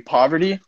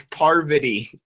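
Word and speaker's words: Parvati: Poverty? His first season? Why do you keep on saying poverty? It's parvity. Parvity.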